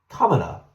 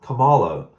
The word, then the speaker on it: Kamala: says anything about uh Kamala oh I'm sorry I didn't say it right remember he jumped Ronda Sanders last night it's Kamala Kamala Harris it's not Calo how disrespectful it's Kamala